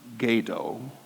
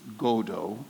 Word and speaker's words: Godot: was the original slide it's not Gaydo it's godo but Chris is not the only one to make that mistake somebody else also talks about Gaydo um Godot actually comes from God I'm not sure if